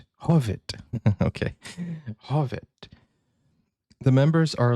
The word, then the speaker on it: Hov1: This comes from Susan who says, "This is a Swedish group HOV1 or actually pronounced Hovet." Hovet.